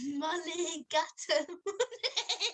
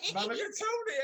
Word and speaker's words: mulligatawny: Can you pronounce that? Sophie. Mulligatawny. Mulligatawny, absolutely right. Mulligatawny.